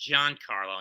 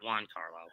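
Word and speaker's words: Giancarlo: when failure comes about it's pronounced john carlo not juan carlo yeah all right anyway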